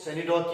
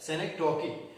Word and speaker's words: synecdoche: आपको मैं बताता चलूं कि अक्सर बेशतर बच्चे इसको सेनिडॉग पढ़ते हैं या सेनिडॉज पढ़ते हैं, दो that is totally incorrect. It is actually pronounced as सेनेक्टोकी.